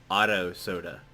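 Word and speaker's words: Ado Soda: We'll put, I'm gonna say your name right this time. Otto Soda, even though you spell it Ado.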